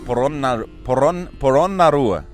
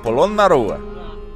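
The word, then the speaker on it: Polonnaruwa: The place we're going to is called Polonnarua. Polonnarua. The ancient city of Polonnarua. The ancient city of Polonnarua is a UNESCO World Heritage Site and the second most ancient of Sri Lanka's kingdoms. Polonnarua was first established by the Chola dynasty as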